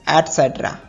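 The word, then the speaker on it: et cetera: नेक्स्ट word है आदि इत्यादि, जिसको हम इंग्लिश में ETC लिखते हैं, तो इसका फुल फॉर्म एक्स्ट्रा नहीं होता है, ये होगा एटसेट्रा।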